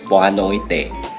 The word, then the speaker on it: boa noite: palavra em português para boa noite No português europeu se pronuncia Boa noite Mas no português brasileiro